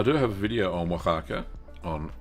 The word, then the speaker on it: Oaxaca: So I do have a video on Oaxaca on how we did it. Oh, how do you spell it? O-X something. No, doesn't have an ox. Oaxaca. O-A.